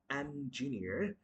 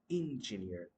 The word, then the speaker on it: engineer: The word is going to be engineer, not engineer.